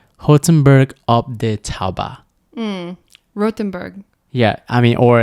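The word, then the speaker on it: Rothenburg: it's blowing up social media but it's it's pronounced hozenberg um yeah I mean or if you're American it's Rothenberg after Tauber yeah uh but it's kind of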